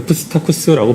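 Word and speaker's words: Psittacus: 그래서 앞쪽에 P가 있고 뒤에 S가 나오는 그 형태의 발음에서는 기본적으로는 원칙적으로 P하고 S를 다 발음합니다. 그래서 푸스타쿠스라고 발음합니다.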